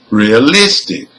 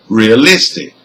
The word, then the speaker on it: realistic: second from the end in number two we have four syllables so the stress is on number three for number three the